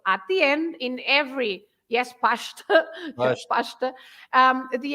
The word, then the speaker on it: pasta: But the sh sound, you have it, for example, in pasta, pasta, because again, you split the word in two. You say pasta. So the S at the end of this syllable, pash, is also pronounced as sh, right?